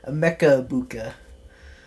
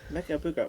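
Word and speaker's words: Emeka Egbuka: Emeka Ibuka. Emeka Ibuka.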